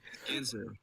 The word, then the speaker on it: Ginsuu: Ginsuu. Depends on the day, honestly. Today my G's soft and a little to the left. So it's a hard G. All right, that's appropriate. Like the Ginsuu knives.